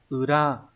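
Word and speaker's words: 裏: Chữ này là chữ lý, sẽ đọc âm kunyomi là ura.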